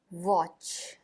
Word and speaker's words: watch: टी इसमें silent रहता है। इसका प्रोनाउंसिएशन नहीं किया जाता है। सी और एच इसे मिलाकर च का प्रोनाउंसिएशन होता है। वॉच वॉच का अर्थ है ध्यान से देखना।